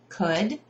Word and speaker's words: could: So what I do is I would write the word could, right? Could, sh, L, could, and then I'll write the word next to it, good. Sounds like good.